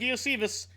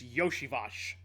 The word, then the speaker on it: Iosivas: I finally figured out how to say this name. Andre Yoshivash. Looks like Iosivas. It's Yoshivash.